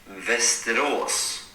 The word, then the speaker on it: Västerås: Hey, dude, how the hell do you pronounce Västerås? Westeros. That's that's from Game of Thrones, Westeros Near Westeros we stayed with a random Dutch guy.